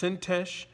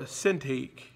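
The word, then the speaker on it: Syntyche: He says, I implore Euodia, and I implore, and his name can be pronounced Sintesh or Sintik, I implore Yodia and I implore Syntyc to be of the same mind in the Lord.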